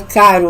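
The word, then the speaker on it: Cheiro: o o Cairo, né, que pronuncia Cairo, o nome dele, embora escreve como pronuncia Cairo, OK?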